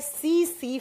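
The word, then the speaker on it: tsetse: इसका वॉक बंटी है सी सी फ्लाइट ऐसे लिखा जाता है उसे सी फ्लाइट जब प्रोनाउंस करते हैं तो टी साइलेंट साइलेंस हो जाता है सी सी मक्खी और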